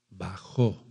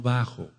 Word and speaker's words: bajó: d de dedo yared que significa bajó no bajo de estatura no no no no es bajó de bajar yarz Qué significa bajó con acento en la o Por así decirlo bajó